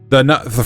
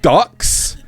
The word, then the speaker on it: deux: And no matter how many times people try to mispronounce the French for number 2, right? It is not ducks. It's the.